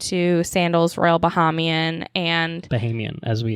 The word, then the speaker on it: Bahamian: So we went to Nassau, we went to Sandals Royal Bahamian, and Bahamian, Bahamian. That's right. I've been discovered. saying it wrong my whole life. It's Bahamian, not Bahamian. Which whatever.